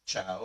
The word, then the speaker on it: ciao: Another thing to note in Italian, the reason we pronounce it as ciao is because C before an I or an E in Italian is pronounced like a CH.